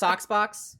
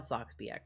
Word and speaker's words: SoxBX: It is technically pronounced Soxbox, but it's like spelled SoxBX, and I like to say SoxBX sometimes.